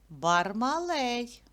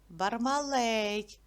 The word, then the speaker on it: Бармалей: до букви Б Б Бармалей давайте поділимо його на склади скільки складів три А куди поставимо наголос на е Бармалей зробіть звуковий аналіз цього